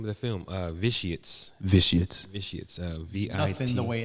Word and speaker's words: Vitiates: Yeah, the name of the film, Vitiates.